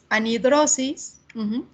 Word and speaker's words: anhidrosis: Ya sé que aquí la que sigue es la h, pero como la h es muda, en realidad a la hora de pronunciar se escucharía ahidrosis, entonces por eso es que lleva an, ¿ok?